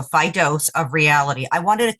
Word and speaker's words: Fidose: it for people yeah so it's Fido f-i-d-o-s-e so phy dose of reality I wanted